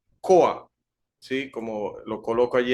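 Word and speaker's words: כח: palabra hebrea que tenemos ahí en pantalla se pronuncia coa sí como lo coloco allí entre paréntesis significa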